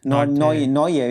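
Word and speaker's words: Nortje: to pronounce right now, although it's spelled as Notze or something, but I think it's Noitz or something. Noye. Yeah, okay, like Hansi Cronje. So Noye.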